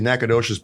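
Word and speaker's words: Nacogdoches: It's It's actually Nacadocious, but you know how people from Louisiana always change?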